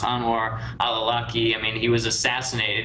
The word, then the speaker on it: Anwar al-Awlaki: And then I know that, I think his name is pronounced Anwar al-Awlaki.